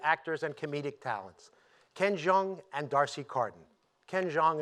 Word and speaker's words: Jeong: He recently released his first Netflix comedy special, Ken Jeong, You Complete Me, Ho.